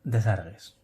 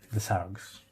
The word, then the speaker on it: Desargues: El siguiente paso nos lo da Desargues, o Desargues, como se pronuncia.